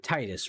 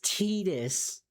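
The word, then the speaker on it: Tidus: I've known people named Titus it exactly like that and they say my name is Titus. But no, not in Final Fantasy. It's Tetus.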